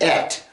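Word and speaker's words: את: I think Aleph Tav, or Et as it's pronounced, appears at least 74 times in the book of Esther.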